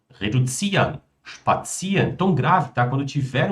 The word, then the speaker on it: spazieren: Verbos que terminam em iren são pronunciados como ian.